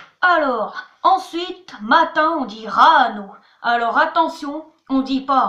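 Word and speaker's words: ráno: C'est R-A-N-O, Rano. Et l'accent en haut, c'est justement pour pas qu'on dise Rano, c'est pour qu'on fasse l'accent. Sœur, on dit Sestra.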